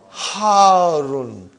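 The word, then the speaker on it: حارٌّ: Al-labanu harun. Harun. Because the shadda is on ra. So you got to pronounce it properly.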